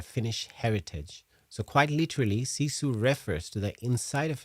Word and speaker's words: sisu: So it's pronounced as sisu.